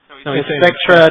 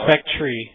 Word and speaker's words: Spectre: was the proper pronunciation I thought it was a spectre Spectre is it really Spectra not no he's Spectra not Spectre yeah I was saying